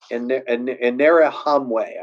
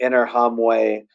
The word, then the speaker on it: Interahamwe: Interahamwe, I believe is how you pronounce that.